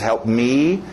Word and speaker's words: help me: Engole o P, help me, né? O P e o M estão em conflito.